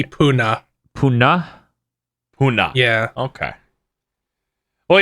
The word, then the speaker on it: Pune: I would either assume it's Pune or Pune, but I'm gonna look it up. It's in India. It seems to be Pune.